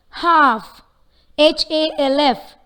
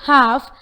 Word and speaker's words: half: Half. Half. The answer is, this word half doesn't have an approximate consonant sound. Though the letter L is evident in the word, it is silent.